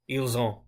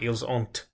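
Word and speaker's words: ils ont: intermingled there other and ile zone as you see when I pronounce eels oh I'm not pronouncing to T a less experienced person French might say something like eels aunt an example sentence for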